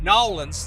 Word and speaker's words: New Orleans: we're in new orleans let me say nolan's that's the quick pronunciation and we're just having